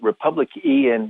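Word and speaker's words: republicEn: to be with you yeah we call it republic en org okay you can find it on google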